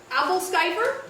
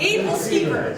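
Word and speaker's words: æbleskiver: Start with the first syllable. Abel-Skyper. Abel-Skyper? No. Abel? Yup. Abel-Skyper. No. Oh my god, Abel-Skeeper. Yeah!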